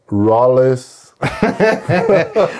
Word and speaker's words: Rolles: I mean, we could correct this by telling people that it's Rolles. Rolles. Man, I just. Can you tell them what you named your son? Rolles.